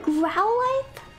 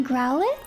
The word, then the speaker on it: Growlithe: Oh my god, we could have got a Growlithe? Or Growlithe? I always want to say Growlithe, but the word lithe is pronounced lithe. So shouldn't it be Growlithe?